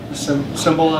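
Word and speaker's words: Cymbala: reading uh fresh wind fresh fire with jim symbol is that how you pronounce it yeah he says god is attracted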